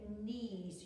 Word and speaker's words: knees: So we've got KN as in knees. You don't hear the K.